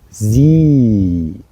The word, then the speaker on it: sie: which means she, that you have this two letters following E, I and E, and there you have to pronounce it in with a long breath. So you say sie, or in this case, the Wiese.